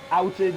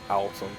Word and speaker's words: Elton: Elton John. Ilton. There's no A in it, so I wouldn't say Alton. Ilton. Elton. No, it's the way Elton John. It's the way I pronounce it.